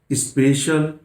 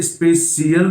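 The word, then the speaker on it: special: अब यहां ध्यान दीजिए, अब इसी शब्द का प्रोनाउंसिएशन लीजिए। यदि सी के बाद, एस के बाद, टी के बाद, क्लियर, आई एल आए, तो इसे सीएल नहीं बोलेंगे, यानी आप इसे स्पेशियल बोलते हैं या स्पेशल बोलते हैं, तो आप इसको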